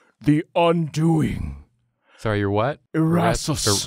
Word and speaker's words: Erasus: I am Erasus, the Undoing. Sorry, you're what? Erasus. Erasers? Erasus. That's a little tough to pronounce.